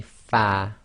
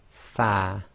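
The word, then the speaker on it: فاء: the letter fat now when you pronounce the letter far your upper front teeth should touch the inner wet portion of your bottom lip so say far far the next three letters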